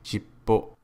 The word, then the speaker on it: shippo: Similarly, in the bottom example, the P sound is pronounced at the end of the first character and is pronounced shippo.